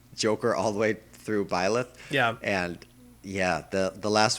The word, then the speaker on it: Byleth: It's just, I guess to close out my thoughts on, how do you pronounce this name again? Byleth? Byleth, yeah.